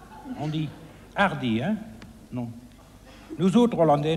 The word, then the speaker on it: Hardy: On ne prononce pas le H en français. On dit Hardy, hein? Non. Nous autres Hollandais, nous le peuvent très bien. Nous disons Hardy.